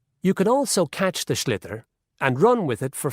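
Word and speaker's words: sliotar: this ball called a schlitter that's s i o t a r so it's not spelled the way it's pronounced you hit it into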